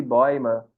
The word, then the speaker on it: Bäume: Se ele vier tremado, aí fica OI. Aqui, por exemplo, essa palavra de boima, que é árvore no plural.